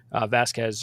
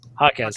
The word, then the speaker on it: Jaquez: Yes, and there was a little bit of audio basically around Tatum was talking to the rookie Vasquez or whatever. I'm not pronouncing that right. Jaquez, thank you.